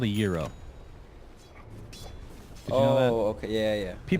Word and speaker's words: gyro: but it's actually gyro. Like the American pronunciation should be gyro. I think the actual pronunciation is more like hero, something like that.